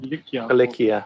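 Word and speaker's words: Cilicia: Is going to, I think the other one is pronounced Kilikia, or not? Kilikia, yeah.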